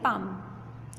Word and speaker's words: palm: Fourth है पाम, एल आता है बीच में, PALM, पा, लेकिन बोलते हैं पाम।